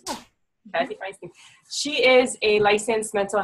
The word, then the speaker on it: Kathy Feinstein: Is that how you pronounce it? Is that correct? Yeah. Kathy Feinstein.